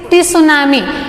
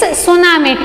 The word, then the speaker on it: tsunami: It's not a T tsunami, it's tsunami. T remains silent.